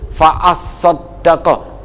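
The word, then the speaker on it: فَأَصَّدَّقَ: Ingat ya, di atas huruf sod itu ada syiddah, ada tasdid. Fa'as-soddaqo ini berat, siqal bil lisan, siqal bil lisan, berat untuk diucapkan. Fa'as-soddaqo, double tasdid secara berurut-urut, di atas huruf sod dan di atas huruf dal.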